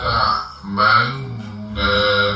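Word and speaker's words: تَأْمَنَّا: La ta'manna ala Yusufa wa inna lah. Jadi kita tahan manna ya, la ta'manna, seperti itu.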